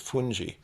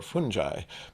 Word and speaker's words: fungi: up toxic waste with fungi or fungi paul stamet says there is no accurate pronunciation for that word that book came out in 2017.